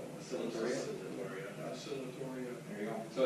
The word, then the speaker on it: Oscillatoria: Yeah, how do you pronounce that? Phanomena? Yeah, cyanobacterial. And what do you call it? Oscillatoria. Oscillatoria.